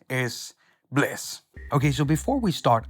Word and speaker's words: BLEASS: black blasts pleeeease so first it's pronounced bliss which is kind of this state where you are in the moment making your music and feel at ease and happy inside so in other words bliss as bliss okay so